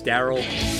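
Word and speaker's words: D.A.R.Y.L.: I'm guessing people know it as Daryl. Yes, that that is correct. That is the correct way to pronounce that film.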